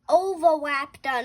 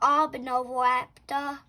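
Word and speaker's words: Oviraptor: It's o It's pronounced Oaptor, not Obnovaptor.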